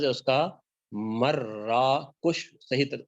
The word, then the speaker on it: مراکش: عام طور پر مراکش کہا جاتا ہے، صحیح تلفظ ہے اس کا مراکش، صحیح تلفظ ہے.